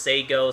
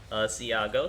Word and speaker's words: Sago: And it looks like Marcane's telling us in the chat it's actually pronounced Sago, so we're going to be saying that instead of Siago.